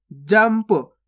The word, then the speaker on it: जंप: जंप। आधा माँ का उच्चारण हुआ ना यहाँ पे, देखो इस प्रकार से आधा माँ पढ़ा अपन ने, जंप।